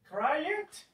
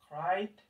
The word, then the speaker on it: cried: Cry it, incorrect. Wanted, incorrect. Then we have specific pronunciations for this. Walked, walked. Cried, cried.